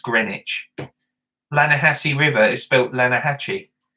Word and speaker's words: Greenwich: in london is spelt green witch but it's pronounced greenwich lanahasi river is built lanahachi you know and